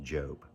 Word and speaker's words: Job: His name looks like Job in our uh language today, but it's actually pronounced Job.